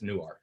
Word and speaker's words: Newark: it's in newark um which is spelled like newark but that's what they never heard that pronounced before okay so they that's what they say in jersey but in delaware it's newark yeah so but yeah